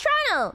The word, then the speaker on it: Toronto: It's called Trato. Lemon increasing. I want to visit USA sometime in my life. USA is very cool to visit. It's Toronto. The Ta is silent.